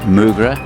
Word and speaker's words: Moogerah: of course we're a lake moogra as they pronounce it here i'm here with dr